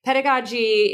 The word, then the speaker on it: pedagogy: me pronounce and then Define it is it pedagogy pedagogy pedagogy y you got it right the first time yeah so pedagogy is kind of the art of teaching and